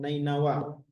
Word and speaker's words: Nineveh: Di Nineveh zaman sekarang dibacanya Nainawa.